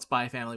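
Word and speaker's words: Spy × Family: you also call it spy family which is probably how you're supposed to pronounce it but i still i pronounce the x personally the same reason i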